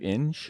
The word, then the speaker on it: Ng: I think we both took, I think I can't ever pronounce his last name, but Andrew Inge. Yeah, Ning.